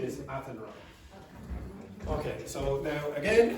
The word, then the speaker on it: Athenry: Okay, and the pronunciation is Athenry.